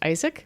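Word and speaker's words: ISAIC: for industrial sewing and Innovation Center pronounced Isaak which is a new initiative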